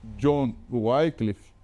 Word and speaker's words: John Wycliffe: Aqui nós temos, por exemplo, John Wycliffe, ou como querem alguns mais preciosistas, John Wycliffe, seria a pronúncia no inglês.